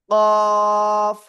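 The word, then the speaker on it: ق: তো তাহলে এটা আমরা কিভাবে উচ্চারণ করব? মোটা আওয়াজে উচ্চারণ করব, এবং এভাবে আমরা কোরআনে পাবো, যে কোনো জায়গায় পাবো। সবাই একসাথে আনমিউট হয়ে জোরে জোরে বলেন, কফ।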